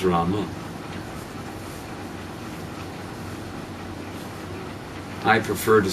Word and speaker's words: Rama: Uh so Ram is also complete but it may not be as complete as Rama.